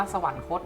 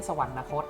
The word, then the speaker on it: สวรรคต: ราชดำเนิน ตาย เรียก ว่า สวรรคต อ่าน ว่า สวรรคต นะ ครับ ไม่ ใช่ สวรรนคต นะ ครับ ขวด เรียก ทั้ง หนวด